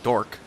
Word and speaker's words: Dwork: Either that, or his his non-orc parent was a dwarf, and therefore he's a dork. Wow. That's awesome. And that is spelled DWORK.